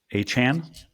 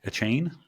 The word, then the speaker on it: Achane: We have Christian McCaffrey, Raheem Mostert, Travis Etienne, Devon Achane. That's how you pronounce his last name, apparently. Achane. Achane. Achane.